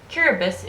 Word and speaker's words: Kiribati: The pronunciation differs. Kiribati is the official pronunciation, as T in Kiribatese makes an S sound.